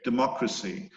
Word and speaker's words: democracy: think it is okay democracy so you notice that the accent it moves it's democracy that dah dah dah dah dah dah dah democracy and democratic it moves one syllable to the right democratic that the data